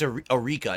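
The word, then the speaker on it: Arika: So there was actually, it's Eureka, not Akira. He said it wrong.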